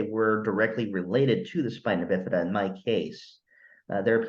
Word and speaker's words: spina bifida: I don't know if it's spina bifida.